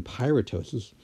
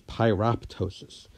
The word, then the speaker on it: pyroptosis: such as Piru ptosis you wouldn't pronounce that second P in pirate ptosis or else you'd be pronouncing it as pyroptosis which again seems a